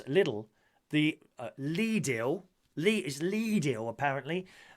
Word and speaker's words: Lidl: One said, every time I have to pronounce Lidl, the Lidl, is Lidl apparently.